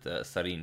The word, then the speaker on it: Sarin: that person was not trolling me i will pronounce it serene from now on so Nihal having an excellent